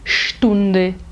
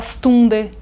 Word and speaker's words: Stunde: outros, como por exemplo, o ST e o SP no início de palavras não são pronunciados de forma seca, eles são pronunciados de forma cheia, como se fossem o nosso X, como por exemplo, Sport, Straße, Sprache, Stunde. O brasileiro tem a mania de falar Stunde, Sprache, nada disso.